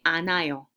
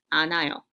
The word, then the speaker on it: 않아요: Hiut will be silent, and the other consonant will be pronounced instead.